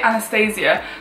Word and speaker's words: Anastasia: how to pronounce it some people say anastasiya and some people throughout Nastasia I've always said on Thursday I'm going to be using the Anastasia Beverly Hills brow Wiz